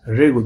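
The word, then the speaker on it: Ryugu: will go it's late there the ru asteroids regu the pronunciation you should know r y u g regu asteroids and to collect the mineral sample that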